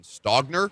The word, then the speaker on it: Stogner: South Carolina's got a tight end, Austin Stogner, I believe is how the last name is pronounced.